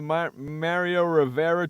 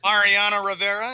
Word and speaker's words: Mariano Rivera: Okay, so since he made the announcement, does he do the Mario Rivera tour? Like Mariano, whatever the hell his name is. Mariano Rivera.